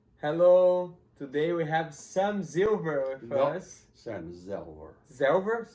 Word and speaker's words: Zelver: Zelver, the same pronounced in Poland, Zelver, Zelver?